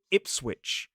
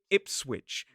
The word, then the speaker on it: Ipswich: Just down the road from Norwich is a place called Ipsswitch. Ipsswitch. And in this place, we do pronounce the W.